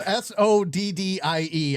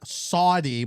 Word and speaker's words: soddie: Yeah, I would say spelled Soddie, I believe, not Saudi, but Yeah.